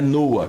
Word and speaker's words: Noah: Não, é Noah, que é a pronúncia correta, não é isso?